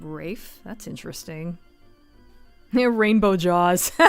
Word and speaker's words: Ralph: go to jail huh ralph finds pronounce his name rafe that's interesting they're rainbow